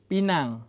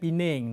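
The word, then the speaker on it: Pinang: เบรน เบรน สุง สุง ปีนัง ปีนัง แต่ บาง ที คุณ ผู้ ชม อาจ จะ ได้ ยิน ผม ออก เสียง เป็น สุง ปีง นะ ครับ คน ปีนัง ออก เสียง เกาะ นั้น ว่า ปีง นะ ครับ ครับ ถ้า สมมติ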